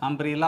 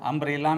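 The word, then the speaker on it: umbrella: दोस्तों यहां यूनियन और अंब्रेला पर विशेष ध्यान देने की जरूरत है क्योंकि दोनों का शुरुआत यू से हुआ है यूनियन में यू का उच्चारण य हो रहा है और अंब्रेला में में यू का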